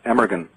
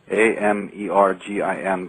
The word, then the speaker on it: Amergin: His name was Abergahain, which is actually pronounced Emergin. It looks, if you're reading it, Emergin, Amergin, but in Gaelic it's Abergahain.